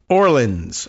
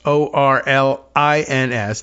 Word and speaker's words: Orlins: This is the Substack of Eliza Orleans, Orlins, not Orleans, but Orleans, like we say Orleans, the way we pronounce Orleans.